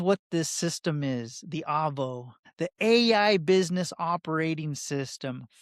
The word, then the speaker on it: AVO: We are calling it Avo, pronounced Avo.